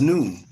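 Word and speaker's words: نون: That's why I use the Arabic letter Nun, pronounced as noon.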